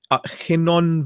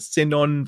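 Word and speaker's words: Cynon: They're from the Hinnon Valleys. I don't know if that's how you pronounce it or not. Sinon Valleys near yeah.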